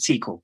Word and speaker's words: SQL: does it go well actually it's called a sequel but yeah it's whatever you call it sequel